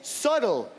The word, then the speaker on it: subtle: En anglais, subtle. Il y a aussi un B, mais on le prononce pas.